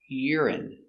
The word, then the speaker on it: urine: the same pration urine y Ur R iuri urine stress on the first syllable urine urine urine they test your urine